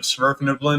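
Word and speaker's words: svirfneblin: To answer Straw Piglet's question about the pronunciation of Sverfniblin, it's Sverfniblin. The V is actually pronounced.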